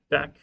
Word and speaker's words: deque: Let's do our deck here. So this, like, the UE is silent, even the U, even though there's an E here, the Q makes the K sound.